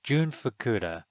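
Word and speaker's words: Jun Fukuda: UDA I just wasn't I'm sorry June yeah June fakuda sorry I was mispronouncing the name but yeah it felt like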